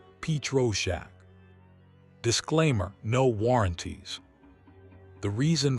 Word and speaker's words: Pietroschek: Psychic crime fiction copyright Pyrachek pronounced Petro Shack.